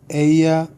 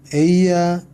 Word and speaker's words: ella: 자, ella. 이 발음 기억나시나요? 야와 자의 중간 발음. 에이자라고 해서 에이야라고 해도 되고, 그죠?